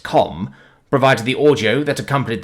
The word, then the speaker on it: CAUM: The hyper-microprocessor revolution of half a century prior proved the CAUM, pronounced COM, provided the audio that accompanied the shocking images from Sol's Systems' resource-rich Kuiper Belt mining operations.